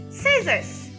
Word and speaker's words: scissors: And letter C is silent in the word scissors.